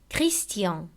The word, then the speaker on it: Christian: Если же перед ним стоит «с», то оно произносится как «т». Например, Christian, proposition, Bastien, station.